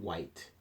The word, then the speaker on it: white: is silent which and white those H's are silent so let's pay attention